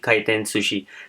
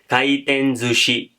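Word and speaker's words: 回転寿司: अंदर अगर हम बोलेंगे, अगर हम इसकी प्रोनाउंसिएशन ऐसी पढ़ेंगे तो ये होगी काइटेन सुशी, लेकिन हम इसको बोलते हैं काइटेन जुशी, थोड़ी हैवी है इसकी प्रोनाउंसिएशन, तो हम इसको बोलेंगे काइटेन जुशी।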